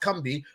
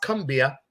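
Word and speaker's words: Combahee: history she led them right there to the kumbi river the fuel is felt it's pronounced cumbi it looks like it's pronounced cumbia which was pronounced cumbi she led them there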